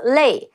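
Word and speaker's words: 肋: eggs or chicken ribs it's interesting that Uncle Roger pronounced rib as luo but in Chinese Mainland where I'm from we pronounce that as Lei Chile I know in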